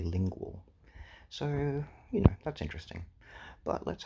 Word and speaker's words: Lingule: And I believe I was pronouncing it as Lingule, but I believe I saw it written in IPA somewhere, and it's actually Lingual.